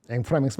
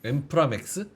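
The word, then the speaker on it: inframince: 앵프라맹스 맞나? 한번 쳐볼까요? 엠프라맥스? 앵프라맹스 맞을 겁니다. 프랑스 발음인데 아주 미세한 차이.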